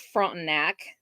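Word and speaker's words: Frontenac: don't know Kansas towns that's front neck it's how that's pronounced it's a little tiny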